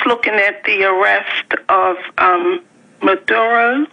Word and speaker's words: Maduro: I'm glad that I tuned in because when I was looking at the arrest of Maduro, Right. am I pronouncing it right?